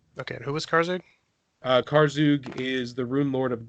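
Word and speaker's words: Karzoug: a short loop of car zhuge which is how he's supposed to be pronounced I was done before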